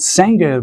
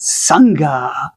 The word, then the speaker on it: Sange: So the Japanese pronunciation is not sanger but sa which is definitely very similar to saman without the n sa.